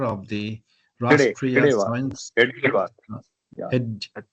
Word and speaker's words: Hedgewar: Science Hedgewar. Yeah. Hed, It's pronounced Hedgewar.